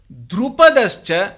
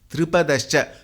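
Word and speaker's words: द्रुपदश्च: Similarly here, Drupadascha should not be chanted as Dripadascha.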